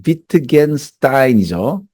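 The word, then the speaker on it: Wittgenstein: 루트비히 비트겐스타인이죠. 흐 발음이 나죠. 그 다음에 이게 v 발음이죠. 그죠?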